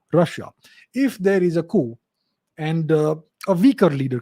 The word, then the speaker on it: coup: cool or is it Cooper the word c-o-u-p-q is a French word so in French you say coup you don't say coop but yeah if you